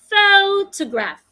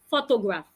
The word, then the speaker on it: photograph: and to do that I must stress the first syllable pH photograph not photograph another example photography photography